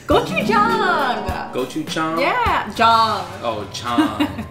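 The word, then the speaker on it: 고추장: Gochujang.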